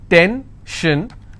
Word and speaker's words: tension: pension so how many syllables in tension two ten shin i will stress on ten if i have pension